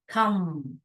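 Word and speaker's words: thumb: thermal थ थ अम थम ब का साइलेंट होता है तो थम बोलने का थम नहीं बोलने का थ क थिक एस्ट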